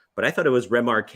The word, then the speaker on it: Remarque: Like The dude was French. Like, Yeah. he was French. You're right. yeah, like so his last name is Remarque, but I thought it was Remarque.